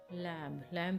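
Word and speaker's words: lamb: In middle English 1100 to 1500 लैम्ब का देखते हैं, जैसे कि एम एंड B were both pronounced. 1100 और 1500 के बीच में जो लैम्ब में एम और बी को बोथ को प्रोनाउंस किया जाता था। मॉडर्न अमेरिकन इंग्लिश में 1775 टू प्रेजेंट लैम्ब में क्या है कि दो फोनीम्स को इकट्ठा आप जो है वो एंड नहीं कर सकते हो एम और बी से, तो ये डिफरेंस है।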